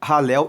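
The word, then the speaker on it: Hallel: salmos que compõem o ralel egípcio ralel se escreve h a l l e l e ralel egípcio significa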